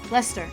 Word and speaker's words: Leicester: Leicester? Is it? It's British, so that means I cut out like a syllable or two. How say? Leicester.